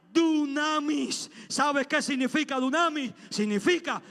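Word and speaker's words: δύναμις: En la gracia, esa expresión es Elohim, pasa un griego que se pronuncia dunamis.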